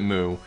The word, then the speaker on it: Mu: I'm going to pronounce it Mu. You can pronounce it Mew if you want to.